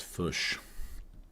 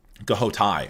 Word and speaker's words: Ghoti: It's not pronounced fush. Goai.